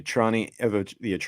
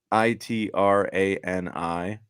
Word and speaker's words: Itrani: How do you It's spell it, all Trani? uh, Itrani. And remember, Itri is the city that most of these Italian American immigrants came from that ended up settling in Cranston.